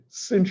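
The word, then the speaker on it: sinh: a mouthful right so people say cinch of x and kosh of x um i do not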